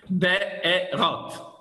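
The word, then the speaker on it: בארות: Be'arot. No, why ah? It's an aleph with a segol. Okay, right. Be'erot.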